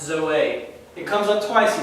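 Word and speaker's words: ζωή: Zeta, omega, eta, that's pronounced Zoe.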